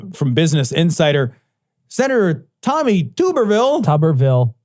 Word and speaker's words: Tuberville: Senator Tommy Tuberville. It's not Tuberville. Tuberville would be too cool. That would be a potato. Is it man. really Tuberville? It's Tuberville.